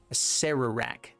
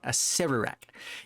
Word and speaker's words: Acererak: Acererak. I said it wrong again. Acererak.